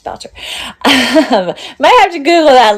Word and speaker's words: Boucher: I think it's Boucher. It's Marcel Boucher. Um I don't think it's Ber, right? It's not Ber. It's Boucher.